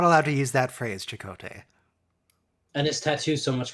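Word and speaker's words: Chakotay: to use that phrase chicote and his Tattoo's so much crazier oh they changed his pronunciation chocolate they did that's what they did in season one people called him Chaco day yeah yeah for a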